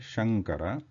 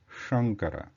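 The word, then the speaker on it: शङ्कर: So if it is Talavya Sha, which is the right way to pronounce is Shankara. If you use Murdhanya, then it becomes Shankara.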